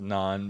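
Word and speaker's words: naan: liked bread and Anne it's actually pronounced non but whatever I thought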